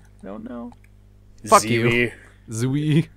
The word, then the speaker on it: Zwei: Zwei. Zwei.